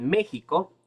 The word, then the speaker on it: México: razón por la cual México se escribe con con x pero se pronuncia como la J porque antiguamente la x